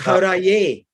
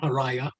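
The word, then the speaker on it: हरये: So correct is Haraye. Haraye. Haraye. See how it's spelled? Haraye, not Haraya. Right.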